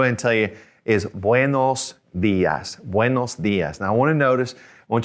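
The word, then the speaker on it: buenos días: morning buenos buenos dias notice that accent on the eyes so that's where we're gonna kind of stress a little bit the ass push your tongue forward a little bit buenos dias okay and just an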